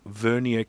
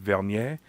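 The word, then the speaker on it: Vernier: Um, I have recently purchased a new set of Verier calipers. Now, of course, technically it should be pronounced vanier because it's named after Pier Vanier who came up with the Vanier scale.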